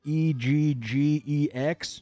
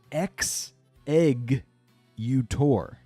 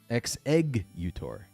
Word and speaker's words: Exeggutor: and figure it out is it EG gex no it's X egg utor the egg pun happens on the second s able could have been eggs utor but no exeggutor I'll never forget how